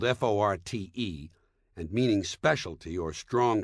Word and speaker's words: forte: English word Fort spelled f o r t and meaning specialty or strong point is not pronounced Forte got that it's pronounced Fort the Italian word Forte